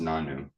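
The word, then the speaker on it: nonno: who is Italian and in Italian grandfather is pronounced nanu um and we were in the South so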